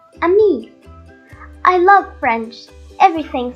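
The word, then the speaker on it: ami: say friend in french the word is a me my mom says you say it like this a me i love french everything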